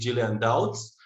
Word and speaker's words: Gillian Dowds: channel agile seeker and today my guest is jillian doubts am i pronouncing this right jillian yes you got it